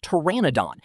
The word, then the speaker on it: Pteranodon: The superstar of the family is the Pteranodon, pronounced Pteranodon.